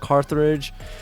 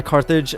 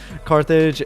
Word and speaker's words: Carthage: Han um Hannibal who was in control of Carthage and I mean Carthage I don't know why I pronounced it like that my bad Carthage and also just like uh building up and